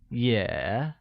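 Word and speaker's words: 也: of also in Mandarin also translates to yeah which is pronounced with the falling rising tone mic yeah the sentence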